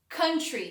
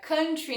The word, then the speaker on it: country: Country, que significa país. Atenção especial para a pronúncia. Country, não country, igual a gente quer falar do sertanejo.